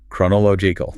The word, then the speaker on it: chronological: Six syllables. It is a marathon of breath control. Listen to the stress. The heavy beat falls on law. chronological Listen carefully.